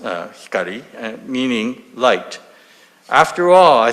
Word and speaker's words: Hikari: instead I decided to use the name Hikari pronounced uh Hikari meaning light after all I thought there can